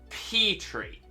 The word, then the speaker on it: Petrie: When they could have gone for Terry, but spelt with a P. Why would they do that? Why would they do that? They've got the whole silent P terror thing to play with.